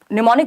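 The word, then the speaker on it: mnemonic: एम से शुरू होता है, एम साइलेंट है, तो ये निमोनिक है।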